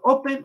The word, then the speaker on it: open: opens Open Ok entonces Open tiene dos sílabas la o y el pene pero decimos Open o decimos open decimos Open en ese caso como el estrés o la tilde que tenemos en español que no existe en muchas palabras en inglés el el énfasis realmente es en la primera sílaba y no la segunda